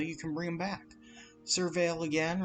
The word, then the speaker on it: Surveil: Surveil is how you say it, and is what's going to be very helpful here.